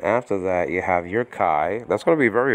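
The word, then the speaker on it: καί: translate this greek word kai nowadays pronounced gay in modern greek you don't say kai you say k and so that's our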